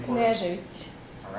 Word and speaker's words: Knežević: Pronounce your last name for us. Knežević.